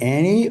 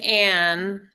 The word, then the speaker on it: Anne: Quick question, is it Annie or Anne? I'm Anne. Thanks for asking. Okay, the E is silent.